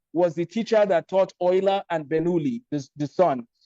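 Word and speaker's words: Euler: u the life of Leonard Ola but Ola spelled with the letter E L E R some people call him Ula he's considered to be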